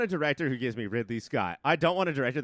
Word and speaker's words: Ridley Scott: tonight they Ridley Scott Ridley Scott rhymes with diddly squat we did yeah that